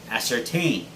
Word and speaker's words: ascertain: it is ascertain ascertain now ascertain is a word that means to make certain or to make sure but it's not pronounced as certain just like it's actually form certain okay the verb form is ascertained which means that the stress should be on the third syllable so guys repeat after